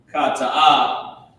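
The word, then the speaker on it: חטאה: Cha-ta-ah. And it's the same root word as kata'ah. Okay? Well, it's the same word. It comes from the root word kata'ah. This is how you pronounce it.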